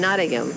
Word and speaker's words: Nottingham: poshka say in England we have Birmingham and Nottingham but they have a Silent Age so it should sound like Birmingham and Nottingham yeah okay I got